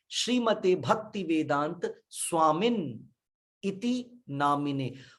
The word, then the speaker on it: नमः: कुछ बोलते हैं नमो, नमो ओम विष्णु, नमो नहीं है, नमः। नमः भी नहीं है, नमः है। देख रहे हैं? नमः ओम विष्णुपादाय कृष्ण पृष्ठाय भूतले श्रीमते भक्ति वेदांत स्वामिन इति नामिने।